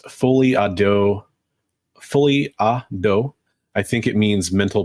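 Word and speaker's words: folie à deux: I wanted to go back to Son of Crom's comment because he said for English speakers it's pronounced folie à dos.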